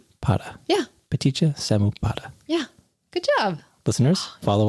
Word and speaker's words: Paṭiccasamuppāda: with ptia Samu because take me through the pronunciation ptia Samu yeah ptia Samu yeah good job listeners follow along all together now petia Samu P very well done light-hearted grammar can be